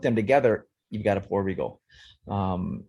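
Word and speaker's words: porbeagle: together you've got a poor regle um how do you spell that poor p o r okay and then beagle b e a g l e like like Snoopy like Snoop poy yeah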